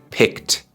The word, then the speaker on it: picked: Pick o elegir Pues el último sonido en Pick es c entonces en pasado decimos picked picked no decimos ped no decimos Pick decimos pi definitivamente deberías poder escuchar el sonido de la t es muy suave al final escucha otra vez pied